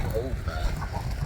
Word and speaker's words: Aldeburgh: not really about, I think it's called Aldeburgh. Yeah, we've been saying it wrong, of course we have.